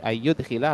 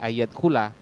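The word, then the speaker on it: يدخل: Ayyud khilah berarti maknanya apa? Kalau dakhala masuk, tapi kalau sudah dipindah pada wazan af'ala yufilu berarti menjadi memasukkan. Jadi jangan sampai salah, jangan dibaca ayat khula.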